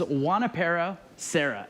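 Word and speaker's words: Junípero Serra: pretty close actually that was pretty close it's juanipero sarah and so that was the father uh father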